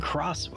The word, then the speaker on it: Xenoblade Chronicles X: Chronicles X Definitive Edition do you pronounce the X I think is is it cross sorry microphone is it cross is it X Xenoblade Chronicles 10 Xenoblade Chronicles Chi or is the ex silent like every anime Xenoblade Chronicles X